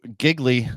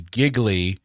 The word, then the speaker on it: Gigli: It's because Gigli, and yes, we're gonna call him Gigli, even though his name is Gigli. Rhymes with really. Rhymes with really. He has to tell us that multiple times.